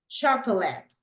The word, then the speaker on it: chocolate: Chocolate, correct. Remember that the stress syllable is the first one, right?